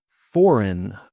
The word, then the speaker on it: foreign: Silent G often comes before N. Sign. For example, sign your name on paper with a pen. You might sign your name. Sign. Design. Design. Foreign. Foreign. Foreign means from a different country.